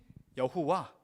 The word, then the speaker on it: 여호와: 우리 읽고 싶잖아요 그래서네 학자들이 여기에다가 모을 붙였습니다 의미대로 저기 아도나이 있는 모음을 붙인 거예요 아오 아이 그래서 이거를이네 글자에 붙여다 보니까 발음하게 된 것이 여호와 야외라 단어가 되었습니다 이스라엘이 이렇게 경외했던 이름